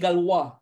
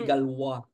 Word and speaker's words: Galois: Abel and Ah si galw sometimes they some people pronounce it galois si galo gwa was galu was only